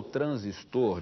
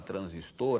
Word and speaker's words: transistor: há até uma discussão, há quem adote, há quem não adote a pronúncia, né, oxítona, transistor, há quem insista e diga, não, a palavra é paroxítona, transistor, e por aí vai.